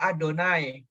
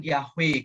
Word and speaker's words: YHWH: eh lanjut ya jadi bapak ingat ya bahwa yhwh itu bacanya adonai bukan yahwe kalau di Israel karena